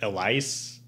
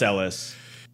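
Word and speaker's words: Ellice: totally named after Ellis Island e-l-l-i-c-e so like Elise okay um but yeah pronounced Ellis but yeah so it was under the British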